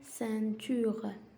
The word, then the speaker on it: ceinture: Une ceinture. Une ceinture. C'est avec E se prononce ce. Avec E-I-N se prononce sein.